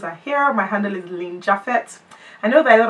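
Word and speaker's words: Lynn Japhet: me my handles are here my handle is Ling jaffet I know that a lot of people pronounce my name funny cuz I hear that people say ling jet or no it's Lin jaffet Lin l y n n j a p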